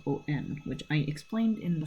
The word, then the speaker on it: on: And then on is spelled O-N, which I explained in the first video.